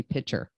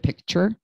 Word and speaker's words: picture: points it out, is I used to say pitcher instead of picture.